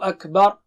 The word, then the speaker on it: Akbar: Every day we say Allahu Akbar, and make sure you say it right. Don't say Akbar. Akbar. Ba is here and ra is there.